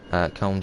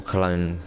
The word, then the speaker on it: Köln: Köln Schnellfahrstrecke. Or Cologne Schnellfahrstrecke. Köln's got two names, Cologne and Köln.